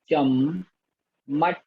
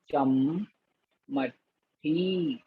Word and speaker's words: चम्मठी: चम चम मठ ही आधा टा और ठा में छोटे ई की मात्रा। चम चा और आधा मा चम चम मठी चम्मठी।